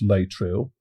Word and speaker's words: Laetrile: Well, this, unfortunately, is a story that drew millions to Laetrile. I believe it's pronounced Laetrile, but also Laetrile, and it's also called amygdalin, or vitamin B17.